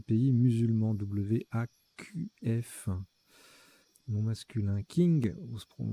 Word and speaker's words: king: King, qui se prononce aussi Qing, adjectif d'une dynastie chinoise du XVIIe au XXe siècle.